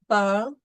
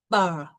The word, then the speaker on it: parle: So the E is generally silent unless it has an accent. So in these words, pomme, table, parle, we see there is